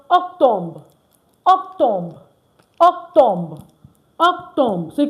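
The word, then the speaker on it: octobre: And October is pronounced octombre.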